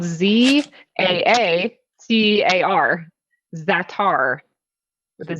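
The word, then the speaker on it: za'atar: you get at trader joe's okay it's called zatar it's listed on your ingredients under the optional servings it's the very last thing it's spelled z-a-a-c-a-r zatar with a z so if you if you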